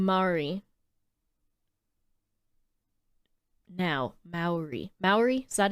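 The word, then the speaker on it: Māori: So, in the film, they introduce the new tribe, and they're just meant to mirror Maori people.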